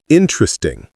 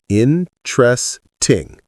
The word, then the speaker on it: interesting: Interesting. Three syllables, not four. Interesting.